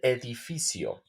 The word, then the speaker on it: edificio: building El Edo again if you will find the Z the c or S it has uh the z s and C uh in Spanish is the kind of similar sound always as s okay el edificio el edificio and also remember if